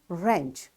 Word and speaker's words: wrench: So that's wrap and wrench. It's a tool you know. So all these words are written with W but it's this W is silent over here.